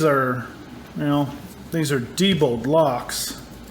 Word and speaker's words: Diebold: you know these are Diebold blocks a lot of people call them Diebold but it's actually Diebold those how it's pronounced but Diebold never made